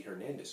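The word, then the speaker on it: Hernández: For example, in English, we would say Hernandez, the Hernandez family. But in Spanish, you would say Hernandez family. You take off that H.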